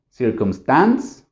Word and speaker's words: circumstance: y si se fijan nada más son tres sílabas y otra vez el Stress cuál sería circumstance circumstance Entonces sería circumstance No circumstance si entienden entonces continuamos